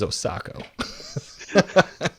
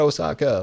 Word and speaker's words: Osako: His last name is Osako. Not Osaka, like the city.